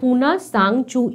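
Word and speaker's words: Puna Tsang Chu: পুনা, আবার সে আগে স্পেলিংয়ের মতন তিনটা উচ্চারণ হবে না, তাহলে নামটা কি? পুনা সাং চু ইন ভুটান।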